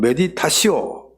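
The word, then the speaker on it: meditatio: 둘째는 메디타시오.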